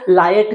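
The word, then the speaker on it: LIATE: एल आई ए पी ई इसको लायट भी पढ़ते हैं। इसको लियेट भी पढ़ते हैं। जो आपको प्रोनाउंस करना है आप कर सकते हो।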